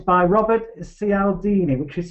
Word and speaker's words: Cialdini: It's spelled, the book's called Influence, The Psychology of Persuasion, and it's by Robert Cialdini, which is spelled C for cockerel, I for Indian, A